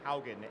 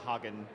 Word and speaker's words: Haugen: last name all right my last name is Haugen h-a-u-g-e-n okay I just want to make sure I was saying it right oh I appreciate it because everyone says it wrong it's usually everyone says Hogan yeah Hagen okay in